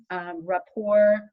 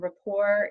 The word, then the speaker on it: Rapport: if you want to know more about translation rapport translations dot com and rapport is spelled like the french word r a p